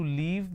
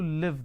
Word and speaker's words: live: used to leave there it's not i used to leave there i used to live there so that's a sound